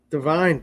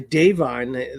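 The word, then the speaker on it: Da'Vine: Divine, she just keeps going. Davine, I should say Davine. They always like to say her name is Davine.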